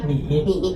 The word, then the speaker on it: 你: N, E, Ni.